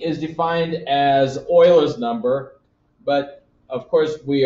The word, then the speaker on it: Euler: things every time um but if you live in Germany and that's where this gentleman's from um in Germany the EU sounds like an oi so this is really Oilers number Oilers number is